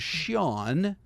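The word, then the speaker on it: Sian: And on the right is Shawn, uh, which is spelled S I A N. And, uh, it's like the name Shawn basically uh, for a woman.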